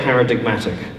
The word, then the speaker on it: paradigmatic: don't pronounce the G, except when you say paradigmatic.